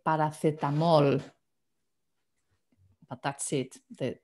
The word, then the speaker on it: paracetamol: The words, like paracetamol basically is spelled the same, okay? It's just slightly different pronunciation. We say paracetamol, but that's it.